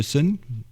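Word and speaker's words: Soen: Les autres suédois aussi de Sun. ça ça se prononce comme ça fondé par Martin Lopez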